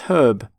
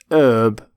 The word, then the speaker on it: herb: for plant which is herb herb not herb by the way you pronounce the h in the word herbivore